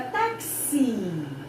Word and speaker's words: táxi: Agora, táxi. Ele tá na última sílaba, mas ele ganha um I.